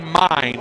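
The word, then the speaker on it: Myn: 3 nothing so RJ mine who spells it m y n but pronounce mine like yours and mine is on for the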